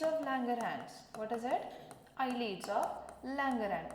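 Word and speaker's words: islets: आयलिड्स ऑफ लँगरहॅन्स. S stands for, S is silent.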